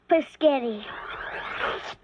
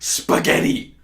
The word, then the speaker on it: spaghetti: It's pronounced spaghetti. It's spaghetti. Hey, let's get your paints and make a picture.